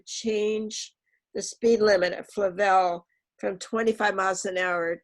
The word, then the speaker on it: Flavel: Pam, is that pronounced Flavel or Flavel? Flavel.